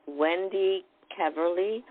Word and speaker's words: Wendy Keverley: do you hope by saying your name right wendy keverley who is hey beautiful who's a networking person to say it right on the first try good job yes thank